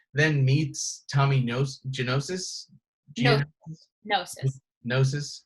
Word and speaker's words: gnosis: meets Tommy knows Genesis gnosis silent G and then teaches Tommy